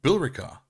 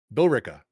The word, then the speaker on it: Billerica: No, so remember what we did with Haverhill? We ignore the E in the Haverhill. middle of a word. Oh, Billerica. Billerica. Billerica. Billerica. Yep, that's it, Billerica.